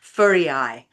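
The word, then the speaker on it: Føroyar: And Faroe actually is pronounced in their language as Furiai, and Furiai is the word for sheep island.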